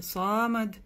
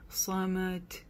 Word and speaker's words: صمد: Аллаху самад. Опять же, самад не читаем, или самад. Да, то есть буква даль в конце тоже не глушается. Не говорим самад. Да, д, как и здесь.